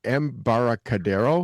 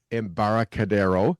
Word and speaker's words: Embarcadero: going to have to help me with this pronunciation, Embarcadero, is that right?